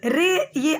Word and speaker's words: राय: यहाँ पे कई लोग रे, ये RAY है, लेकिन इसको रे नहीं बोलेंगे, राय बोलेंगे, ठीक है. रॉय, ठीक है, राय, सत्यजीत रॉय. आप इसको प्रोनाउंसिएशन राय रॉय, ठीक है, रॉय राय, ठीक है, ऐसे बोलिएगा, नॉट रे.